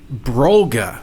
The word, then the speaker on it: Brolga: Okay, so on to our first topic, Brolga. Am I pronouncing that right?